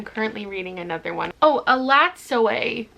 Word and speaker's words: Elatsoe: Oh, Elatsoe is actually how you pronounce this. I'm so sorry, I've been saying Elatsoe for so long.